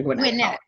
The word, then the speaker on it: Gwinnett: Business Administration from Georgia how do you say that college I'm sorry winnette Georgia Gwinnett okay and her master's in